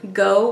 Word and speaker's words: Gogh: It's called Go with a Flow, and it's spelled like Van Gogh, G-O-G-H. And it's really beautiful.